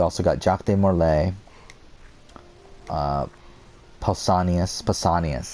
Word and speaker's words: Pausanias: And I feel like you also got Jacques de Morlaix, Pausanias, that's how you pronounce it.